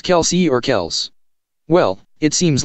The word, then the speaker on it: Kelce: Ever found yourself wondering if it's Kelce or Kels?